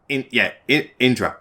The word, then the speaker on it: Indra: Indra. Yeah, that's how I pronounce it.